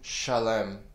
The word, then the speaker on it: Shalem: has been established in Shalem I'm saying it that way because that's how it would be pronounced in the Hebrew his dwelling place in